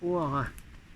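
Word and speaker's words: Hoara: Alors un message de O'Hara. Non, c'est pas un Irlandais, j'ai déjà dit, c'est un frère de l'espace qui communiquait avec Eugène Sergusa et qui s'écrit H-O-A-R-A.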